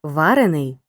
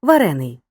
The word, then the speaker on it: варений: то як їх розрізни саме за наголосом дієприкметник варений і прикметник варений дієприкметник печений але прикметник печений потренуймося розподіли подані слова